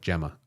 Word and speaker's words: Gemma: By the way, Gimma pronounces like Gemma. Oh, Gemma with a J as next letter E I Y like gentle Jim. Oh, Jimma.